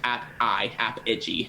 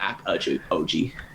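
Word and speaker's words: Apigee: So search Apogee, not Apogee. Oh, okay. So IGE, yeah. I would not have pronounced it that way.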